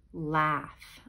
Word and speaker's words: laugh: how to spell okay has that a-u-g-h in it laughs it almost sounds like you would have an f in it but it doesn't okay so this is